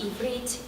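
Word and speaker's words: עברית: one word to the next because I'm bedrich pronounced ibrit is language or Hebrew and a state of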